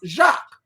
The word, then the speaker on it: Jacques: name, but I believe his first name is pronounced Jacques.